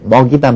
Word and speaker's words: 먹이다: 발음하지만 호랑이만 표준 하고요 먹이다 맥이다 가운데 이제 먹이다 표준화가 되는 거죠 이외에도 역시 이모 역행동화